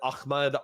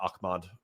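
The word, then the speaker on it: Ahmaud: Great Jedi says Tim Pool is the guy that said that Ahmmed Arbory. It's not Akmad. I I'm over pronouncing it.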